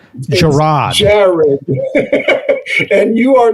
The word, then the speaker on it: Jarrod: It's spelled Jarrod.